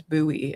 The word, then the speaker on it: buoy: the life the which I always knew as buoy and then he pronounced it boy the all right the life boy and I was like is that and I looked it up apparently that is just another pronunciation of it and I hate it